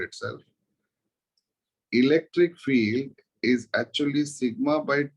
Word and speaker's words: sigma: Sir, in red, what you had circle, what we pronounce it? Sigma, surface charge density.